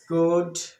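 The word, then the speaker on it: could: है श ड कुड है ना तो सब जगह य पर एल साइलेंट है य एल साइलेंट है इसको कुड पढते कुड नहीं पढ़ते इसको उड नहीं पढ़ते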